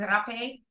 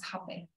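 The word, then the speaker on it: rapé: And then in Portuguese, they say it as rape.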